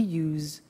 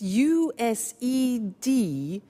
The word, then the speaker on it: used: don't have now we use used to look at the spelling s it's it's u s e d and then t o but the pronunciation is not used it's us unusual used okay so